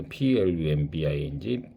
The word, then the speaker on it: plumbing: 그래서 destroying 140 vehicle and damaging the building electrical and plumbing system. 그래서 B가 묵음입니다. 그래서 PLUMBING plumbing system.